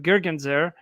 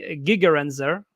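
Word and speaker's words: Gigerenzer: feelings and so uh gergenzer uh gigarenzer uh actually is the right pronunciation I believe uh whose author of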